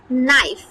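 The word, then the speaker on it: knife: নাইফের শুরুতেই কিন্তু কে আছে, তাই না? কিন্তু আমরা কি কখনো উচ্চারণ করি কে নাইফ? কখনোই কিন্তু উচ্চারণ করি না। আমরা কি উচ্চারণ করছি? নাইফ, নাইফ। তাহলে এই যে কেটা উচ্চারিত হলো না, এটাকে বলা হচ্ছে সাইলেন্ট কনসোনেন্ট। তাহলে এখানে কি সাইলেন্ট আছে? এখানে হচ্ছে কেটা সাইলেন্ট আছে।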